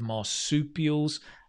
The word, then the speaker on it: marsupial: examples you've got of marsupials not an easy word to say right try and say it with me marsupial a bit like chicken soup soup peel marsupial any other examples of